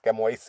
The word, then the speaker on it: chamois: Uh, this is the chamois color, as Toyota likes to call it, which is spelled as CHAMOIS, Camois in Desi Bhasha.